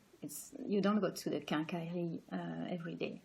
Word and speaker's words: quincaillerie: And so we have more like 3 blocks, like 3 syllables. So we say quincaillerie, quincaillerie. It's important because the rhythm of the word it's going to help you to understand how to pronounce it.